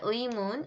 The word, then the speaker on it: 의문: 자, 의문, 의상, 의약품 다 어때요? 의가 첫 번째 음절에 오죠? 그랬을 때 그쵸? 그대로 의로 그대로 발음해 주시면 됩니다.